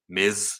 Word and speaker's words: Ms: marvel he called her miss marvel there's a difference in the way that i said it miz like ms period spells miz like the wrestler of them